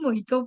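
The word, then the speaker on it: mojito: exactly mispronounced by us because J is almost silent so we got to say moto so I have One glass of moito please.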